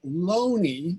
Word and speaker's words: Looney: prominent oxfordian uh thomas loney although his name is spelled looney he pronounced it loney um was that oh